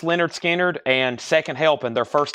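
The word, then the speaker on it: Lynyrd Skynyrd: we got Leonard skinnard we have pronounced Leonard skinnard and second helping their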